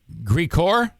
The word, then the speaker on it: Grigor: So, do I say Grigor? Grigor would be an Armenian pronunciation. Gregory is an American name.